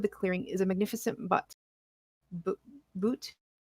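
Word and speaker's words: butte: Striking up for the sky in the center of the clearing is a magnificent boot. How do you pronounce that? B-U-T-T-E. Is it really? I think it's butt.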